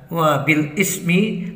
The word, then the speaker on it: وبالإسم: Karena ini adalah bacaan naqal, maka dibaca sebagai wabilismi. Ya, seharusnya dibaca sebagai wabil ismi.